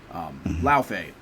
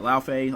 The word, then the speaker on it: Laufey: Laufey. I believe I'm saying that right. I'm taking that pronunciation, of course, from is it Norse mythology, I believe?